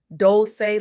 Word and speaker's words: Dolce: Welcome to the Soft Girl Era podcast, hosted by LeAnne Dolce, pronounced Dolce like sweet softness whispered in French.